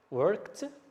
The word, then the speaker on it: worked: So we add ed and we pronounce it t, worked, but we write ed.